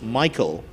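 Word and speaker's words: Michal: i c h a l but it's PR pronounced Michael and not M as is often mispronounced and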